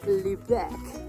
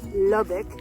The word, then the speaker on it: Lubec: We are at the easternmost city of the United States, pronounced Lubec, not Lubbock.